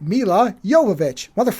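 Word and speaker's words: Milla Jovovich: Her name is pronounced Mila Yovich.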